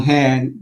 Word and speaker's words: Han: the introduction so again my name is hand but if we just step back that is really not technically the correct pronunciation my last name is Han h-a-n but